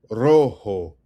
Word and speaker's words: rojo: Rojo. Emphasis on rojo.